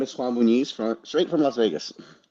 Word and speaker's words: Juan Muniz: And speaking of up to no good, today we have with us Hi, my name is Juan Bonise from straight from Las Vegas. Awesome. Thank you for pronouncing that because I did not want to mess it up.